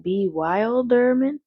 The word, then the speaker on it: bewilderment: A look of complete bewilderment. Wait a minute, do we know that word? Bewilderment. That's a bewilderment. Has the word wild in it, right? Bewilderment, but it's pronounced bewilderment.